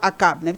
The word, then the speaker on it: Akab: Le prophète Élie avertit le roi Akab. On a prononcé Achab ou Akab? Akab, c'est Akab.